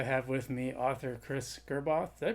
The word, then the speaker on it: Gerboth: So today I have with me author Chris Gerboth. Did I pronounce that right?